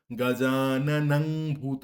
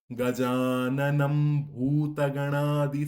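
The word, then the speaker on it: গজাননং ভূতগণাদি: তাই অনুস্বারের উচ্চারণ কিন্তু ম এর উচ্চারণ করতে হবে। এখানে গজনাম ভূত গজাননাং ভূত করলে চলবে না গজানম ভূতগণাদি সেবিতং ঠিক একইভাবে ভূত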